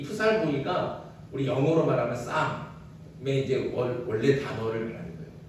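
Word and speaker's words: psalm: 이 프살모이가 우리 영어로 말하면 쌈의 이제 원래 단어를 말하는 거예요. 그러니까 프살모이 그러면 앞에 이제 P가 나오고 중간에 L이 나오거든요. 영어로 따지면 P-S-I-A-R-M 이게 나오는데 거기에 영어로 하면 P하고 L이 묵음이잖아요. 그래서 쌈 이게 이제 시편을 얘기하는 겁니다.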